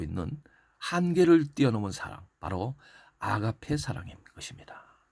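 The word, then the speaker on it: ἀγάπη: 그 다음 마지막에는 사랑의 가장 극치를 보여주고 있는 한계를 뛰어넘은 사랑, 바로 아가페 사랑인 것입니다. 헬라어 원어로는 아가삐라고 그러는데 아가페라고 보통 우리가 발음을 하는 것이 바로 그 사랑의 근본적인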